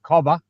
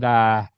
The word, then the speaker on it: cobber: You got cobber, Who? Uh-huh. Cobber. Spell it. and COBBER, Okay, cobber. Mhm. Like corn cobber.